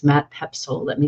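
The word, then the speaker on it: Poepsel: by going to his personal website it's Matt pepsil let me spell that for you because it's not obvious Matt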